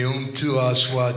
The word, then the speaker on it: Mtuaswa: That M in Swahili is like you just tasted your favorite food. So an M is not an M as in English, it's So it's Mtuaswa.